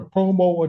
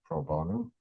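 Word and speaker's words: pro bono: Uh, is it a such thing as a promo attorney? A what? Uh, I may not be pronouncing that correctly. A lot of denture work done. Proono.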